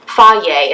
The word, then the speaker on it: Fage: I like the, I think it's Fage. Yeah, Fage is how you pronounce it.